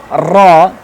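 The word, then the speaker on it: ر: When pronunciation place is this, like when the front corner of tongue will touch to the root of very close to the root side, to the upside, very close to the root of front corner of front teeth, upside front teeth, ra, this will be pronounced ra, ra. It has special sound, ra.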